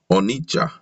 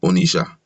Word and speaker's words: Onitsha: These we see in our towns and cities, ill written and pronounced like Onitsha instead of Onisha, Aukwa instead of Oka, Enugu, Owerri instead of Ower, and so on to please some people.